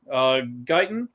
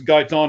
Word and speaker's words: Guyton: The cornerback, Diggs being out, or offensive tackle, I believe it's Guyton is how it's pronounced.